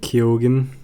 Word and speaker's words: Keoghan: Ewan has seen Saltburn, so Barry Keoghan, I think his name is.